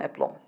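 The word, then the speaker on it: aplomb: অ্যাপ্লম এম এর বাদে বি আসলে বি এর উচ্চারণ হয় কেমন এপ্লম এখন এপ্লম মানে কি এপ্লম মানে হচ্ছে এখানে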